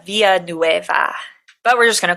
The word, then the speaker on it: Villanueva: we wanted to do the super correct pronunciation it would be Clarita viaa but we're just going